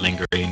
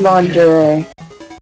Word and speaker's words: lingerie: I don't know if Ryan knows what lingering is. You should explain it to him in great detail. He seems curious. I think you've pronounced that word incorrectly. To the internet! It's lingerie.